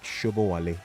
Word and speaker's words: Shobowale: He's going to tell me if I pronounce that right. Shobowale. That's how it's pronounced, really. He's in here too.